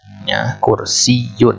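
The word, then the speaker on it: كرسيٌّ: tepat penulisannya begini kursiyyun kursiyyun boleh nggak baca kursiyyun tanpa ditekan enggak boleh yang tepat adalah kursi Yun itu kenapa Data pasti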